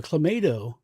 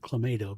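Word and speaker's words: Clamato: But uh no, a clammato. Well, I always pronounce it clammato because I say tomato.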